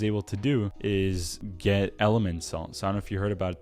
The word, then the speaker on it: LMNT: what I was able to do is get elements on if you heard about this it's spelled lmnt and this is interesting because they